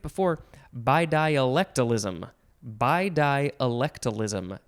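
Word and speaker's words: bidialectalism: by di oh i said it right before by dialectalism by diolectalism b i d i a l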